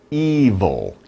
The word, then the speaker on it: evil: We can say, one word we can use is evil. Evil. It's 2 sounds, evil, v. You make the vibration, v. Evil, evil, evil. Okay? That's how you pronounce it.